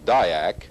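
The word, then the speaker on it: DIAC: attention to the Dayak the letters in the word Dayak may have originally stood for diodes and AC current but if so that distinction has been lost with usage today Dayak and triac are pronounced as words and the letters don't really stand for anything the Dayak is a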